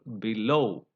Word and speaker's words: below: that is called suffix so here you have prefix which is weak for example below so be that is a prefix and the stress goes on the root of the syllable and that is low below among Etc ability